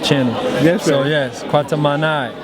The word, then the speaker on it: Kwatamani: So yes, Kwatamani. Kwatamani.